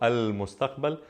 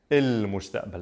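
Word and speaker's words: المستقبل: In a lot of instances, the qaf in the Levant will change from a qa sound to an a. So instead of saying al-mustaqbal, I'm saying il-mustaqbal, a sound instead of qa.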